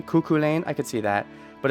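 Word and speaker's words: Cú Chulainn: how to pronounce names kuku Lane okay I could sort of see that I don't that's supposed to be what is this an Irish name kuku Lane I could see that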